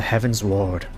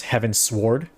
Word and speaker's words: Heavensward: it's funny because like i know it's not how it's spelled but i i thought it was heaven sword like a sword of heaven it's heaven's word like